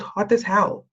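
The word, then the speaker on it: Hotazel: at the town called hot as hell it's not spelled like that but that's how you pronounce it um and it's really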